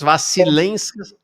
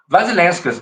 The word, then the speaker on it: Vasilenskas: Vasilenskas. Vasilenskas, é como se escreve mesmo, assim.